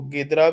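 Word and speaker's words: Ghidra: Tools commonly used in CTFs, Wireshark, Bubsfeed, Metasploit, and there is a new tool, Jidra. तो basically इसको गिदरा भी बोलते हैं, pronunciations different करते हैं।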